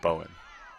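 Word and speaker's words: Bohn: It's spelled B-O-H-N. I thought it was Bone, but it's Bowen.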